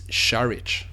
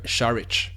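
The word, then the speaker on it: Šarić: Dario and his family I've been mispronouncing your Sur I found out today and I should have corrected this earlier it's shich sh you pronounce it shich it sounds like I'm just taking the piss but Dario sharich it's going to take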